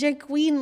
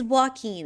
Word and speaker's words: Joaquin: His name is Jaqueen, like the Joker. I feel like I'm saying it wrong every time. I'm back. Joaquin? It's Joaquin. It's not Jaqueen. That's not right.